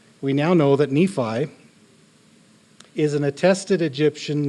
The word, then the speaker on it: Nephi: goodly beautiful fair and by Nephi's day the are and had come to be pronounced with a e so it would have sounded like Nephi as you find in translations